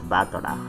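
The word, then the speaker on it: Battler: Japanese pronunciation so far the problem is my own name but is made up of the characters for fight and person and it's pronounced batana put it all together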